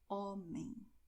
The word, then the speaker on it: homem: And you have the letter H, which has no sound in Portuguese, except in these combinations here. But in this word here, you only say homem.